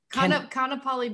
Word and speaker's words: Kaanapali: Kaanapali Beach, right?